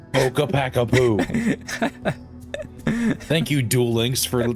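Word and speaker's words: Ccapac Apu: card before, Earthbound Immortal Kookapack. I messed it up. Kookapackapoo.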